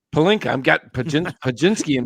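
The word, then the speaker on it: Pelinka: then Rob Pinsky how do you say it palinka palinka I've got pin Pinsky in my mind and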